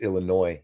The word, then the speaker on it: Illinois: out of me it's Illinois you don't pronounce the s you learn that if